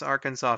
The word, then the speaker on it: Arkansas: pronunciation of its name better not try to pronounce Arkansas phonetically the provision specifically says that pronunciation with the accent on the second syllable with the sound of an A in man uh and the sounding of the terminal S is an innovation to be discouraged this is on the